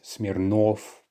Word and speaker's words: Smirnov: For instance, Smirnov, Petrov, and so on. And so despite there being a letter V there at the end, we still pronounce it as if it's an F.